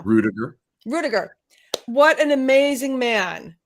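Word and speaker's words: Ruettiger: say his last name rediker no rudiger rudiger what an amazing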